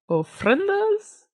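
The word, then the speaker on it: ofrendas: in life may have loved these are called friendas yes look at you pronouncing something correctly for once don't worry about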